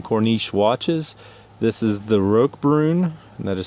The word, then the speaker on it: Roquebrune: Heritage 40 from Cornish watches this is the Rog Brun that is spelled RQ e b r u NE e